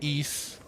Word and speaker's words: Ys: It's pronounced east, like east without the t.